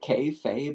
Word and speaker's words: kayfabe: Kay Fabe. I I don't know how to say the word exactly. It's kayfob. Kayfabe. K A Y F A B E.